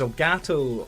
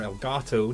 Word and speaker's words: Elgato: Blackmagic etc etc where's al gato or el gato depending how you want to pronounce it you know the cat